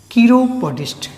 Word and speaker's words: chiropodist: तो इस केर से एक शब्द बना CHIROPODIST, कीरोपोडिस्ट। जब प्रोनाउंसिएशन पे ध्यान दीजिएगा, इसके पहले मैं कायरो पढ़ रहा था, कायरोप्रैक्टर, अब मैं कीरो पढ़ रहा हूँ।